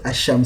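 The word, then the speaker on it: الشام: want you to study the way we have pronounced asham syria we didn't say the lamb of sham syria you you usually hide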